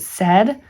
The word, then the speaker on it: said: teach the kids that the uh graphine AI says a but this we don't pronounce this s we pronounce it said I think what you're saying that is you put a heart around that part of it to remember it sounds like a short e sounds like sad s